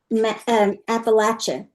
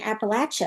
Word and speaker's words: Appalachia: And they were saying Appalachia. And I'm like, that's not right. But Yes, Shelby turns says, out I was wrong. Wow. Shelby says PNW, we pronounce the CH sound.